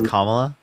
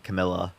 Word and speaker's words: Kamala: cost by the way it's kamla like I don't know why you're saying Camila cam Camila Harris Kamala